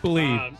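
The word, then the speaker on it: Blidh: Bleed. It's pronounced bleed, basically. Blythe?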